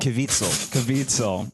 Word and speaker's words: Caviezel: Caviezel.